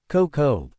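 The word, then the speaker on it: כּוֹכָב: Pronunciation, kokob.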